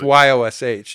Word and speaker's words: Jaszcz: No, you really you can just find it with Yosh. Y O S H even though it's spelled J A S Z C Z.